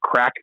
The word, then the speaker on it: craic: Saying we, otherwise saying what's the crack's another one there. That's a big one. The what? That I started saying ironically. What's the crack? What's the crack? What's happening? Like it's spelled CRAIC. Yeah, CRAIC.